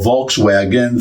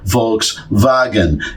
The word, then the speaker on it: Volkswagen: like what, where, when, because they pronounce the W, written W, as a V. So what we call Volkswagen, for them, it's a Volkswagen, and it's so simpler.